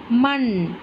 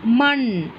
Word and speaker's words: மண்: ம இன் மண். இது இந்த இன்னும் உச்சரிப்பு நல்லா கவனிங்க, மூன்று சுழி இன்னோட இது எவ்வளவு அழுத்தம் கொடுக்குதுன்னு. ம இன் மண், மண் வருது பார்த்தீங்களா, நல்ல அழுத்தமான உச்சரிப்பு வருது பார்த்தீங்களா.